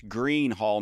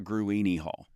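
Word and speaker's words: Gruene Hall: Yeah, so, but that's Green Hall, not Gruini Hall.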